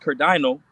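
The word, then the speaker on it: κερδαίνω: here says, that word in the Greek is pronounced kerdino, and it says acquire, to get gain.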